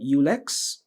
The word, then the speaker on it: Ulex: is called ullex.